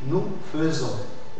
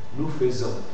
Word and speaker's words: faisons: du verbe faire FA fais que tu dois prononcer quand tu fais le verbe faire tu dis nous faisons nous faisons et tous les femes dans parfait je faisais